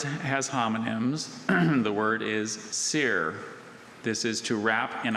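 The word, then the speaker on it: cere: Seer, are there any alternate pronunciations? I see just the one, sear.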